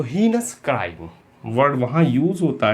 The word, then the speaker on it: heinous: आगे बढ़ते हैं हम, और जो नेक्स्ट वर्ड है हमारे पास वो है हीनस, HEINOUS। पहले तो स्पेलिंग पे ध्यान दें, EI है इसमें, IE नहीं है, हीनस।